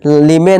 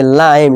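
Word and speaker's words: lime: इस तरह लाइम, लीमे नहीं पढ़ेंगे, लाइम यानी कि नींबू, ठीक है दोस्तों।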